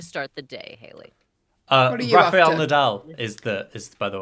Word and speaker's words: Rafael Nadal: charming way to start the day haley um raphael nadal is the is by the way is how you pronounce it raphael am i in the wrong